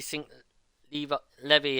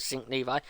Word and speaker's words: Sink Levi: I think I did mispronounce. I did keep saying you, keep calling you Sink Levy as well every now and again, but I then suddenly now correcting myself with Sink Levi.